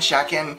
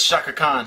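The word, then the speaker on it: Chakan: uh I don't know how you say it shakan shaken it's Shaka Kan Shaka Kan it's the forever man which is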